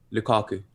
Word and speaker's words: Lukaku: know how it's can you say that again lukaku okay i just want to make sure i